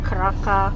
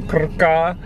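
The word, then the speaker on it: Krka: We're going to somewhere near Kraka. Kraka National Park? I don't know how to say it. It's K-R-K-A. K-A. Yeah. Yep. And so we're gonna go to Kraka.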